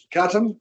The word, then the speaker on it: Katam: You'll pronounce Katam? Surname? Katam.